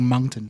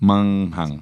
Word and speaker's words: Moncton: Well, because it's almost like there's a silent G. It's like Moncton. Munghung. You know, like mung bean. It's like Moncton.